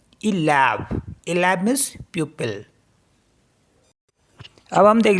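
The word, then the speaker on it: élève: ऐसी next word हमारे पास ELEVE, तो पहला वाला क्या है, एक्यूट एक्सेंट है, इसे ए करके पढ़ेंगे और दूसरे वाले को ए करके पढ़ेंगे, तो इसे पढ़ेंगे हम इलैब मीन्स प्यूपिल।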